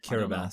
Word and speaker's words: Kiribati: Kiribati. Okay. That's how it's pronounced.